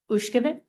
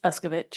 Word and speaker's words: Uskevich: Commissioner Ushkevich. Aye. Am I pronouncing that correctly? It's Uskevich.